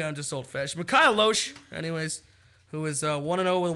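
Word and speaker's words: Lohse: It's Loesch, but the H is before the S.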